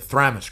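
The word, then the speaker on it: Thramas: And then and I got the the name wrong. The Thramis crusade. The Thramis crusade.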